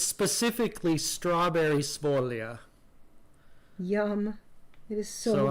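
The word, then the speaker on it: Sfoglia: stitches has been K is called spolia and it's a silent G it's spelled SFO g l i a Folia yeah does it mean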